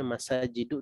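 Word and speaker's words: مساجدُ: Kemudian masajid ini juga sama tadi, sudah benar bacanya masajidu, tidak bertanwin.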